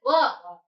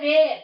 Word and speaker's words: were: Is pronounced it as were. Don't say where.